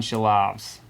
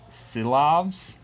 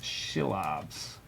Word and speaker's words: Silovs: And there's no H in his name. It's just the way he pronounces it. So it looks like Silovs. In case anybody wants to look into him. He pronounces his name Shilovs. But there's no actual H there.